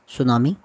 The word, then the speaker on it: tsunami: पत्रों को हल करेंगे यह हमारे लहसुन का नाम है द सुनामी इस मुए दृष्टि शब्द है वह साइलेंट होता है साइलेंट का मतलब बोला नहीं जाता लेकिन लिखा जाता है इंग्लिश में ऐसे बहुत